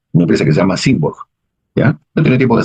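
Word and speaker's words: Symborg: Simborg. Simborg se escribe S-Y-M-B-O-R-G, ¿no?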